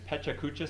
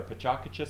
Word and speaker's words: PechaKucha: And I always like this Tech Tuesday because it's Pechakucha style or Pachakacha style, depending on how you want to pronounce it.